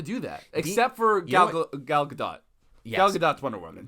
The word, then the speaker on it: Gadot: They have yet to do that, except for Gal Gadot. Yes. Gal Gadot's Wonder Woman. She doesn't. What did I say? The T is silent.